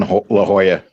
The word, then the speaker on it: La Jolla: rich to live in la jolla i hate the way they spell it man it's spelled la jala all right la jala but they call it la jolla oh if i went